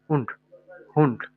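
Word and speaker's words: Hund: যেমন হা উ হু এন্ড ডে, হুন্ড হুন্ড।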